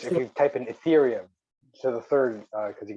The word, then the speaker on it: Ethereum: hang on, I got Atrium. E, Ether, ETH, Yes, it is. Atrium. Ethereum, not TE.